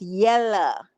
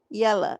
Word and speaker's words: Yella: Make sure that when you spell it right. It's Yella. Yella.